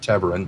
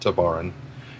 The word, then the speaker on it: Tevarin: We know that there are still colonies of the Tevarin out there, which is pronounced Tevarin, not Tabaran.